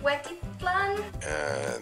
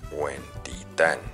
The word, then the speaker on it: Huentitán: Also, Barranca de Huetipo. De hecho, se pronuncia Huentitán.